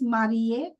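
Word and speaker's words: marié: When you are married for male person it is mar and for female person it is mar. Again the sound has no difference.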